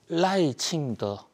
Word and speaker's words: 라이칭더: 충이라고 부르는데요 그 선거 결과가 나왔습니다 자 당선자는 라이칭더 사승 1성 2성에서 중국으로 라이더라고 읽는데요 자 우선 이 라이 칭가 어떤 인물이냐이